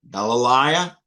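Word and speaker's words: Γαλιλαία: Galilea, alpha iota. It's a long I, as in aisle.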